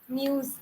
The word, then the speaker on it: news: News. Zindagi. Okay. Yes. Say news. News. That same z that is used in zindagi is used in news.